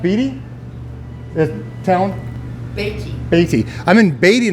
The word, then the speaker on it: Beatty: rail light i'm in uh beatty as it pronounced beatty town a.t i'm in beatty nevada we just